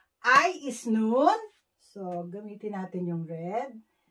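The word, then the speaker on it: 눈: I is Nun. N-U-N.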